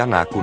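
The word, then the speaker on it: anāku: Assim, os linguistas puderam especular que a palavra fosse anaco na língua acadiana.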